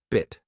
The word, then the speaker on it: bit: Bit. Short. Quick, like the I in sit.